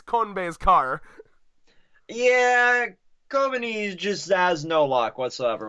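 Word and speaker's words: Kobeni: Kobani, how do you pronounce her name? Kobani.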